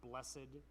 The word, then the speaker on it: blessed: you ever hear anybody saying the word blessed in two syllables with the emphasis on the end? No, nobody says it that way. And yet whenever we do the the biatitudes, everybody who's been around Christians for long quickly learns that the right way to say it is in two syllables emphasis on the last.